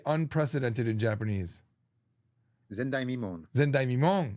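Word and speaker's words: 前代未聞: Zendai Mimon, not Zen Mimondai.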